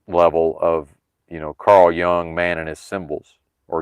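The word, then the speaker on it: Jung: Well, maybe it's the subconscious unseen symbolic level of, you know, Carl Young, man and his symbols or Yung, however we're pronouncing it.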